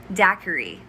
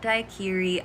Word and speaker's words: daiquiri: kansas arkansas next one daiquiri daiquiri not daikiri i've made this mistake before